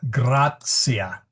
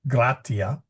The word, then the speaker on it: gratia: And then the TI is a T sound, okay? So grazia, not gratia, but grazia.